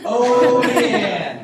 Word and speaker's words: Olean: So it's like saying the girl Leanne's name with an O in front of it, all right?